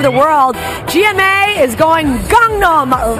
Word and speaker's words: Gangnam: It's pronounced Gangnam. It's pronounced Gangnam. Say that again. Gangnam. So the G sounds like a K.